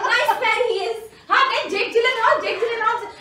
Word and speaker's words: Gyllenhaal: Jake Gyllenhaal, you know how to correctly pronounce his surname? It's Gyllenhaal. What did you say? It's Gyllenhaal. Mrs. Gyllenhaal. Mrs. Gyllenhaal. I'm very surprised. It's not Gyllenhaal. It's Gyllenhaal.